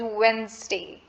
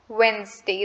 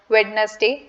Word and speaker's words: Wednesday: now the word is wednesday wednesday the d in the word is completely silent we not do not pronounce it as wednesday it's wednesday so another word i